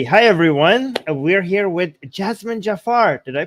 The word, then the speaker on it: Jazmen Jafar: are live hi hi everyone we're here with Jasmine Jafar did I pronounce that correctly yes yes you did it's